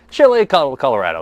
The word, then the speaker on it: chile colorado: Chile Colorado.